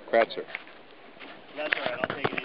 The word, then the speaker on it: Kratzer: I think it'd be Kratzer. There you go, Kratzer.